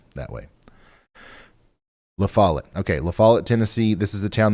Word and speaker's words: La Follette: Okay, La Follette, Tennessee. This is the town that we've been talking about. I've been mispronouncing it.